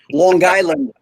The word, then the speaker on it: Long Island: Long Island. Yeah, you overpronounce that G. Get that hard G, that Long Island.